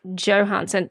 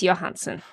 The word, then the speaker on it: Johansson: Yeah, because she pronounces it Johansson. The correct pronunciation of that name is Johansson.